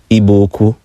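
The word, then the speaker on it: Igbo-Ukwu: Nigeria at a site called IBO uku properly pronounced ibuku and one of the artifacts was a distinct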